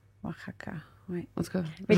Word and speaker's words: Oaxaca: Puis, c'est ça, ça se prononce pas, en fait, c'est comme un H. Fait que c'est pas Oaxaca, c'est Oaxaca, right? Oaxaca, oui.